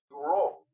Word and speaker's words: Bureau: Y déjame comentarte, Domingo Buró, el apellido se escribe Bureau, que en francés se pronuncia Bureau.